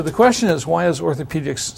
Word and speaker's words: orthopaedics: And that letter has a long E sound, pe. So orthopedics would be what that would be called.